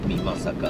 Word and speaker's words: 美作: 今岡山県の美ま坂というところにいます。美しいに作ると書いて美ま坂、ここの